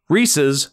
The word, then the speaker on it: Reese's: Pieces is said normally Reese's already rhymes with pieces it's not [ __